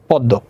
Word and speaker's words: পদ্ম: যেমন দেখো পদ্ম, তাহলে পদ্ম খেয়াল করো, তাহলে প এখানে দয়ের সাথে ম আছে, কিন্তু এখানে পদের মধ্যে বা শেষে উচ্চারণ হবে না, কিন্তু যার সাথে যুক্ত তার দুইবার উচ্চারণ।